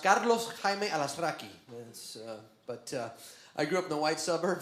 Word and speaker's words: Alazraqui: rocki my name correctly in Spanish is actually pronounced Carlos alasi but uh I grew up in the white